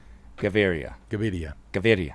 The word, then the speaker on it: Gaviria: Dear Lance, I'm a Colombian too, and I approve of how you pronounce Gaviria. Gaviria.